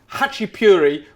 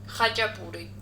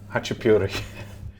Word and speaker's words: Khachapuri: This week, brothers and sisters, Khachapuri, which is not the right pronunciation by any stretch of the imagination. Khachapuri. Khachapuri.